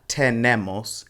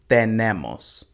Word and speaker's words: tenemos: same here with the it's not ten nemos it's tenemos also make sure you're